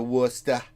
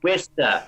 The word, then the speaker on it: Worcester: I've been, hanging out there and going to Worcester. Worcester, not Worcester.